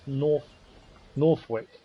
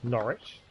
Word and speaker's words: Norwich: So I thought that was being pronounced Northvic. It's not. So Norwich, which is actually Norwich.